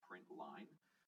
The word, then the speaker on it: println: So this really is pronounced print line, but ln is just short form.